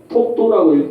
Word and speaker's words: 독도: 돌석자를 써가지고 석도라고 써야 돼요. 그리고 읽을 때는 독도라고 읽습니다. 왜? 이두식으로 썼기 때문에.